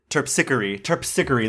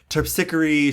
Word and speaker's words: Terpsichore: movie um very silly she plays terpsichore um or is it terpsichery that's how she pronounces it topsickery she's a muse um